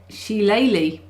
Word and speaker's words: shillelagh: Shillelagh is how the Bog Irish say it. Shillelagh.